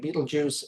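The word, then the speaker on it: Betelgeuse: I'm pronouncing it Beetlejuice. Other people pronounce it other ways, but I'm going with the American version.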